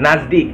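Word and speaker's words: नज़दीक: Dekat, nazdik. Tulisannya nazdeek, tapi dibacanya nazdik guys.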